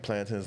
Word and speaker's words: plantain: Plantains. No, cuz everyone in the states be saying plantains. I say plantin. I always say plant like growing up plantin.